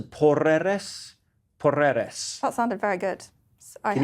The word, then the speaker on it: Porreres: I think it must be, because the Spanish like to roll their R's. So Porreres.